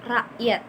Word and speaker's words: rakyat: Jadi ketika dituliskan kan rakyat ya, namun dibacanya secara benar itu rakyat.